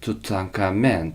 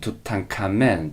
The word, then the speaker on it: 투탕카멘: 투트앙크아멘, 투트앙크아멘, 투탕카멘. 자, 왜 투탕카멘을 투탕카멘이라 부르는지 알겠죠? 투탕카멘은 투트앙크아멘, 투탕카멘 이거를 빠르게 발음한 거예요.